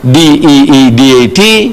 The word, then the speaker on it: Deedat: She says, spell it. So I started spelling it, A-H-M-E-D, Ahmad, D-E-E-D-A-T, Deedat.